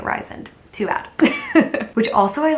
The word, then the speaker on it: Rysand: them about, to that Rysand guy, which that's what I'm going to pronounce it. Apparently it's pronounced Rysand or Rysand, but I think that sounds really dumb, so I'm just calling it Rysand.